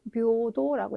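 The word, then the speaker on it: 平等: 발음 묘도라고 읽어주셔야 하는 평등이라고 하는 단어가 되겠습니다.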